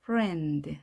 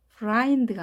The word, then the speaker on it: friend: I이지만 에 발음입니다. friend. 다르게 발음되죠? frind가 아닌 friend입니다.